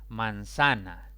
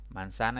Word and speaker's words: manzana: no debo a tildarla manzana manzana es una palabra de tres sílabas la mayor intensidad recae sobre la penúltima sílaba sin